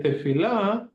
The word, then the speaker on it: tefillah: You can also say tefillah, but the way that it comes out, it's tefillah.